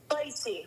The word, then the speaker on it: Spicy: Spicy, like spicy. Spicy like spicy.